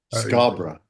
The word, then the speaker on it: Scarborough: But it's it's spelled borough, but you pronounce it, especially if you're from Yorkshire, it's Scar- borough, like b r a.